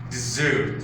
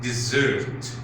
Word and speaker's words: desert: Also we have the verb desert, which means to leave a place or to leave someone, and the noun dessert, the same pronunciation, which means sweet food served after main course or main meals.